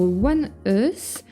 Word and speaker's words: ONEUS: Aujourd'hui, je découvre One Us qui se prononce comme ça si j'ai bien compris ce que ce que vous m'avez écrit en commentaire.